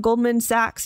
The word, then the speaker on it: Goldman Sachs: It also hired outside consultants, this is it, including Goldman Sachs and, is that how you pronounce it? Goldman Sachs, yeah.